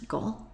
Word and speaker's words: 午: Midday okay here's the character for Midday it's pronounced go and then we add the character for behind